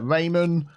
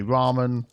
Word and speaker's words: ramen: we've got over here i had a few comments about the way i pronounced uh raymond i know some people would say ramen that's just accents there we go so